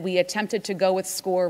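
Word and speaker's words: Scoir: That's what you see on the screen, S-C-O-I-R. It's pronounced SCORE.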